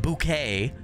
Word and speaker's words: Bucket: she uh says it's not pronounced bouquet or bucket it's pronounced bouquet uh even though it's spelled bucket and uh